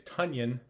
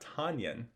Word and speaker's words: Tonyan: last name is tanyan which rhymes with funyun this was all over twitter yesterday i saw people saying podcasters take note it is tonyan not tanyan so listeners take note